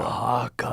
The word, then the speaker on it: Oaxaca: Oaxaca, Mexico. Oaxaca.